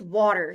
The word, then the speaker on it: water: In this word, the letter A stands for the sound aw. The letters E-R stand for the sound er.